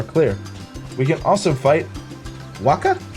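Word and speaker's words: Wakka: We can also fight Waka, I believe is the correct way to pronounce that.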